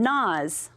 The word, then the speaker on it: gnaws: How about this one, gnaws? Where would gnaws go? 'Cause it's got a silent letter. That's right, it goes over here with the GN.